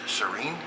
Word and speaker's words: Sereine: bit this is the Serene s e r e i n e that's how it's pronounced in French Serene it means a light